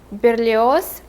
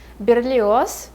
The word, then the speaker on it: Berlioz: baron maigel so his last name is miguel berlioz michael alexandrevich so first his last name is berlioz berlioz his first name is mikhail not michael